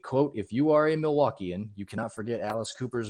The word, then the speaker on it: Milwaukee: quote in wayne's world alice explained the meaning behind the name milwaukee saying it was actually pronounced mili wakay which is algonquin for the good land as it turns out